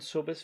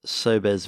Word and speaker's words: Sobes: a trail between the town of zunjimo and sobes vineyard one of moravia's oldest wine producing locations